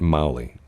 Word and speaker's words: Magli: But I think they pronounce it Mowgli. I don't think you pronounce the G. There's a G in there. I don't think you pronounce it though.